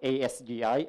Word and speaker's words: ASGI: Ramin and I'm kind of sad but it's pronounced asgi and not something related to beer it's sad